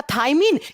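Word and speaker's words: thiamine: बी का chemical name, इसका रासायनिक नाम थायमीन, या जिसे इंग्लिश में थ्यामीन प्रोनाउंस करते हैं, यही रखा गया था।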